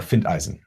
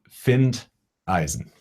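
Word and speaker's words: Findeisen: r is a German R so huh uh find Eisen finned Eisen how do you spell that I'm not going to spell it right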